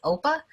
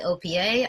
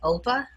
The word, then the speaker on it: OPA: you all see me refer to as oppa some people say opa uh officially it's called oppa by their documentation so most of you